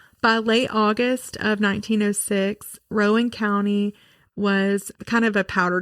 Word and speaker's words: Rowan County: Rowan County.